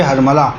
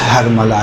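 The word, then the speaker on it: حرملہ: تھے، یقینی طور پہ ہرملہ، دیکھیں اصل تلفظ ہرملہ ہے، جسے ہم لوگ اپنی زبان میں ہرملہ کہتے ہیں، صحیح؟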